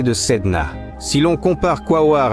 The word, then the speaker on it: Quaoar: Beaucoup de gens, en prononçant ce nom, mettent l'accent sur la dernière syllabe, ce qui n'est pas correct.